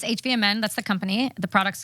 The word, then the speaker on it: HVMN: IQ how do you say this hvmn it's hvmn that's the company the products Ketone IQ oven